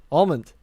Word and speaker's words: almond: on almond almond yeah there you go that's how you say the nut why'd i say before what almond okay well i see the al in my head and then i say a.m it's just i could